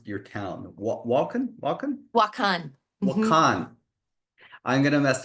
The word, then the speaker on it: Wakan: Wakan. Yeah. Because the emphasis is on the second part.